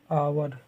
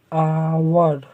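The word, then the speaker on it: hour: स्वर से शुरू हो, यदि उच्चारण हिंदी के स्वर से शुरू हो, मतलब अ आ ई बड़ी ई से, इससे शुरू हो, तो हम लोग एन का प्रयोग करते हैं।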